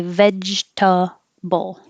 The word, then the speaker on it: vegetable: that much vegetable and it looks like it should be four syllables vegetable but we don't we say Vegeta Bowl One Two Three vegetable and if you really don't